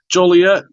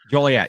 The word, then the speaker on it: Joliet: Joliet. Joliet, yeah.